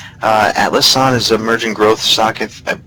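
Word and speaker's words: Atlassian: is Atlas Sun Corp I believe it's pronounced Atlas on is emerging growth socket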